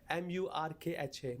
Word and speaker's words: murkha: How do you spell that? M-U-R-K-H-A.